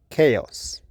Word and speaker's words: chaos: Now, check your pronunciation in the first word 'chaos' /ˈkeɪɒs/ number two 'ewe' /ju:/ number three 'bough'